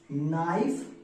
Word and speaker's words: knife: तो लिख देंगे VES, नाइफ, नाइफ्स। यहाँ पे केस जो है वो साइलेंट है। ठीक है, के बाद एन रहेगा तो के साइलेंट, जैसे नॉलेज में देखते हैं वर्ड तो के साइलेंट होता है।